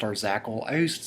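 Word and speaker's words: Arzachel: this is our zackle i'm pretty sure it's pronounced our zackle i used to say arsatchel but um it actually refers to like star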